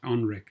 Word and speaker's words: NREC: his own company familiar known as nrec pronounced onrec the center operates as